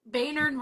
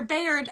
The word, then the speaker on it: Bayard: I I don't know if y'all saw that episode, but or Bayard. I knew I was saying it wrong. Bayard Rustin, not Baynard.